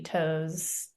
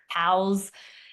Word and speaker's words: Toews: But the woman who's helping us with it, Jody Toes, hope I'm saying it right. Toes. I love that name. Tows. It's TOEWS. But So she's been amazing helping us kind don't of.